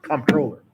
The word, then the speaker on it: comptroller: we listed was comptroller the one that looks like it's misspelled like playstation controller but it's not it's comptroller how often are these